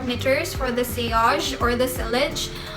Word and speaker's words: Sillage: Okay, Sillage is like the American pronunciation, and Sillage is like French pronunciation, I guess.